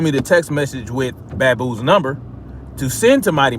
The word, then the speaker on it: Baboo: in a split second is not the truth bamboo who who he told me he actually goes it's pronounced baboo so uh you know shout out to uh